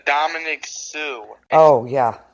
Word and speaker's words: Suh: You do pronounce the C-E. Yes, you do. Like Dominic Sue. Oh, yeah. S-U-H.